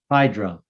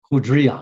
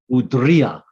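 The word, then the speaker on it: hydria: This particular vessel is called the hydra or hudria. It should be pronounced more of a D, like hudria.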